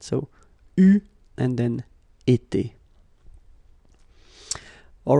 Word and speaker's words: eu: It will become EU, so you will have to write this participe passé form like that. Okay, but you will have to pronounce it U.